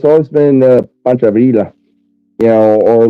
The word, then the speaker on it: Pancho Villa: And you're putting an L sound in fucking Pancho Villa's name.